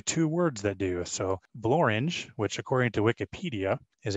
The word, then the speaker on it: Blorenge: We often hear that there is nothing that rhymes with the word orange, but there are actually two words that do. So blorange, which according to Wikipedia, is a prominent mountain